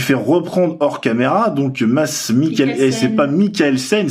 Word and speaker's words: Mads Mikkelsen: très très ressemblant au bras de de masse Michael scène parce qu'on m'a dit qu'il ne fallait pas prononcer le dé non ça se prononce pas je me suis fait reprendre hors caméra donc masse Mikel et c'est pas Michael scène c'est Michael scène